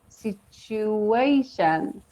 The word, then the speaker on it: situation: and what is crazy we have a hidden W on the third syllable as you see that's a hidden w we say it like where there's no W in that word yeah situation there is a w pronunciation though yes yes that is